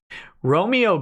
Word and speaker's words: Romeo: it's ice also Nick my name is pronounced like the Shakespearean play character of the same name just so you know